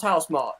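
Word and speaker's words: Housemarque: guys are in chat this is how apparently you pronounce house Mark right everyone Ready House Mark okay cool that's how you do it I'm gonna call a house Marquee because I like it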